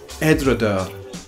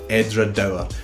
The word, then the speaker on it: Edradour: Now, some people add an extra syllable in here at the end and they say Edradour. That's a very Scottish thing. We add extra syllables. We take the word worm and make it worm. We take the word film and we say film. Well, some of us do anyway. That's what's happening here at Edradour. You can add the extra syllable or leave it as Edradour.